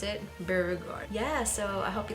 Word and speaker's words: Beauregarde: Is that how do you pronounce it? Beauregarde.